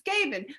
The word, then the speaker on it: Gabin: i want to get it correct i said gavin but it's gaben but then there's a french way to pronounce it which she will tell you in